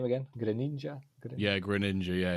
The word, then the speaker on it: Greninja: How do you pronounce his name again? Greninja?